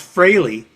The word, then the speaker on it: Frehley: His name is actually pronounced Fraley. Right. Yeah, Fraley, really, so it sounded like Haley.